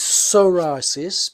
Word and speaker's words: psoriasis: is the best way to get rid of psorasis and the way the way it's pronounced is soris but it's spelled PSO r i a s